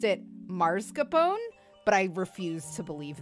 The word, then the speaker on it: mascarpone: Mascarpone over, or mascarpone. I never know how to fucking pronounce that. People around me have pronounced it mascarpone, but I refuse to believe that.